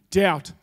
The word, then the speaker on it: doubt: ugly word right firstly it's got like a silent B in it so it kind of doesn't spell right and all of those